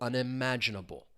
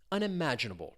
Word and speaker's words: unimaginable: And you really do hear that stress syllable. Unimaginable. Unimaginable.